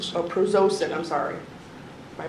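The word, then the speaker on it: prazosin: Um, and then Prozacin. Proacin. Oh, Prozosin. I'm sorry, my pronunciation's off.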